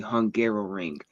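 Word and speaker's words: Hungaroring: don't know the name, it is called the Hungarrow Ring. It So it does sound like I was just mispronouncing Hungary trying to say it a second time.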